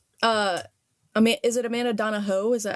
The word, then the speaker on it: Donohoe: really liked okay uh am is it Amanda donaho is that how you pronounce it yeah Taho okay uh she's a